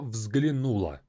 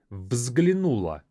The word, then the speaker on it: взглянула: Взглянуть, even though it has 4 consonants in the beginning, is a difficult thing to pronounce, but try to say it after me. Взглянула. Взглянула. So взгл is the most difficult part.